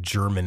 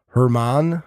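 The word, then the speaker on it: Germán: his name because uh I don't think German is right so I went and I I did the whole name pronunciation thing on YouTube and it's like Herman I think and he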